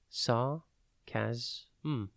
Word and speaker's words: sarcasm: It is pronounced sarcasm and spelt S-A-R-C-A-S-M. Think sar, ca, and then S-M.